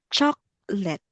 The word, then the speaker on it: chocolate: So for this one, so we will, when we pronounce chocolate, so we will remove the letter O. So it will sound like chocolate.